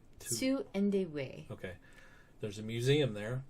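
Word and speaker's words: Tu-Endie-Wei: Indeway.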